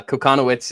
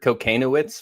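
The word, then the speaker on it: Kochanowicz: Uh, coconowitz is, I believe, the correct pronunciation. I've heard cocanowitz from a few people and I'm hoping Dutch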